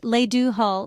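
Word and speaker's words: le do thoil: In Irish, it's le do toile, pronounced le do hull, which means with your will.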